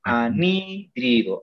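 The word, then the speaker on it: anhídrido: Anidrido. Animal. Anita. Tal como se pronuncia.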